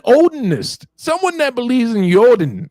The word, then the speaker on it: Odin: I'm like, it's pronounced Yodin. And if you really are, He didn't know that? A black guy is teaching him how to pronounce Yodin.